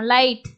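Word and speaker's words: light: இங்க வந்து ஜிய நம்ம வந்து உச்சரிக்கிறது இல்லை எப்படின்னா இல்லு ஐ லை இட் சோ இதை எப்படி நம்ம உச்சரிக்கிறோம் லைட்.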